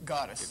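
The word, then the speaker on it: Gatzos: Is that how you pronounce that name? Gattos.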